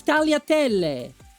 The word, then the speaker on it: tagliatelle: Can you at least pronounce it properly? No. It's tagliatelle.